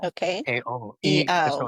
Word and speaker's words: Iao: And then the I's in Hawaii are pronounced like E. So it's E-ow, Okay. A-O. So Iao.